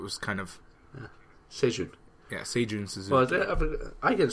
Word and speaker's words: Seijun Suzuki: You pronounce all of that? Seijun Suzuki.